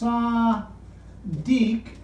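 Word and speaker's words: צדי: It's pronounced Sadiq, and it is the 18th letter in their alphabet. We don't have this sound in English, the S.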